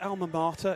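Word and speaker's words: alma mater: and he's that is is it alma mata is that the right way to say it it is if we were in america yes he's old school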